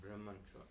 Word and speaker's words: Brahma: the word Brahma not Brahman yeah yeah Brahman and Brahma that's just a Sanskrit grammatical issue both mean the same thing Braha is totally different but that's a long a that's a different word but Brahman and Brahma